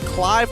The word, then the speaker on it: Clive: and as well as Clive or Cleave. He wants to be called Cleave, but you got to spell it right. It's Clive for now.